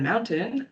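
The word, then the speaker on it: Mount10: The US-based information management services company Iron Mountain preserved digital and analog media in a nuke-proof underground vault in Pennsylvania. The Swiss-based data bunker complex called Mount 10, pronounced Mountain, specializes in long-term storage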